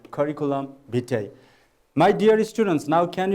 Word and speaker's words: curriculum vitae: the pronunciation of curriculum vitae please try to pronounce it once yes it is curriculum vitae now can you guess what does it mean